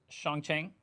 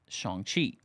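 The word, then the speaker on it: Shang-Chi: the horror Inc yeah shanqi said that wrong Shan chei I actually never saw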